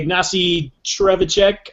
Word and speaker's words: Ignacy Trzewiczek: But Robinson Crusoe is my number 7, which is by Ignacy Trzewiczek, I believe is the correct way to pronounce his name.